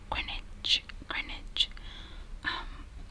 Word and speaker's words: Greenwich: So it's Greenwich. I would say Greenwich because that's literally how it's like written.